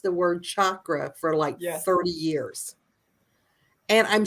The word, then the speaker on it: chakra: And the original, I think it was Sanskrit language that it came from, does pronounce CH with a hard ch. And I'm not ch, so it's not sha.